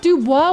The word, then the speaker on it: Dubois: And you'd think that Dubois was pronounced Duba, but it's apparently Dubo.